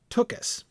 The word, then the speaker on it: Took House: It was called the Took House, which was meant to be pronounced Tookus, which was a slang term for your butt.